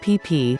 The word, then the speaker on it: Phi Phi: We arrived at the delightful little village at ton sai Bay Although it is commonly referred to as Phi Phi Island pronounced pipi there are actually two islands